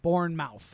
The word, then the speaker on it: Bournemouth: b-o-u-r-n-e-t uh m-o-u-t-h um like Jason Bourne and then mouth born mouth okay gotcha um this